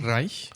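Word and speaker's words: Reisch: Did I pronounce that right, Tom? Reich, yeah. Reich. There you go.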